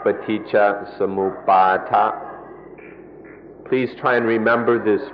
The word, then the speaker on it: Paticca Samuppada: The word is Paticca Samuppada. Paticca Samuppada. In Thai, the pronunciation is a little shorter, Paticca Samupbad. But in the Pali, it's more like Paticca Samuppada.